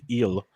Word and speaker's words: Gil: very much in play luis gill or luis eel i should say is the way you pronounce it uh by listening on tv uh he was added in 141 leagues as high as 65.